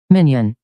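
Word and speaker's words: minyan: Minion. Minion. That's so weird. That's how that's spelled. It's spelled Minya, but it pronounced minion. So, but it is a Jewish religious thing.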